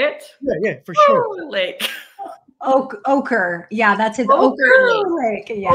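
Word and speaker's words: Oquirrh: Ochre.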